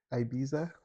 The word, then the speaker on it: Ibiza: Ibiza. I pronounce things weird, okay? The I is an E, like not Italy.